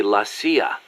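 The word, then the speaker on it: la CIA: So the story goes around here they say lassia instead of CIA. Huh? Um nothing strange about it. That's how it's pronounced when you read it in Spanish.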